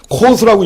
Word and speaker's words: Coase: 가치 사슬을 지배하는 법칙인데 코스라고 읽어요. 로널드 코스입니다. 그래서 이 양반 이름이 로널드 코스가 COASE란 말이에요.